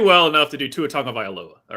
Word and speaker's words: Tagovailoa: Hey, I do well enough to do Tua Tagovailoa.